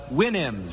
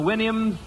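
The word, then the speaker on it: Houyhnhnms: mythical kingdom was the winnhams. Remember the winnhams to pround to pronounce supposed to pronounce it like you do a horse's winnie I think.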